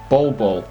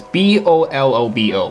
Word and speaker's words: Bolobo: And then finally, this guy, the Master of Nature, or Master of Nature, Bolobo. It's just so hard to pronounce his name. It's B-O-L-O-B-O, Bolobo.